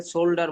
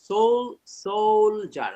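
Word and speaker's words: soldier: সেটা বললে হবে না এটাকে সোল্লডার বলেছেন অনেকেই সোলজার সোলজার এটাকে পলিটিশিয়ান বলা যাবে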